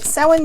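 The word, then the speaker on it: Samhain: which is um uh some of you may see it spelled as s-a-m-h-i-n that is the Gaelic form in literal text it is spelled s-a-u-i-n so you know that kind of gives you a context in how to say it but someone means in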